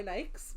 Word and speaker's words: Nike: Listen, my Nikes.